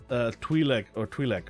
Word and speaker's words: Twi'lek: But we get one guy, the mayor's lackey, Twi'lek, right? Yeah, that's how you say it. His messenger. Twi'lek.